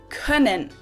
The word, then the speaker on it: können: Now again, you can pronounce this umlaut either long or short, and when we pronounce it short, it sounds like and you'll hear it in words like öffnen, to open, öffnen, or können, can.